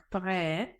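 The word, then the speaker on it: prêt: починається чи починає читатися У нас є таке правило що літера ти кінці слів не читається тому чоловічий рід звучить як пре а в жіночому роді літера Ти вже не на кінці слова буде читатися це буде звучати пред дивіться у нас був прикметник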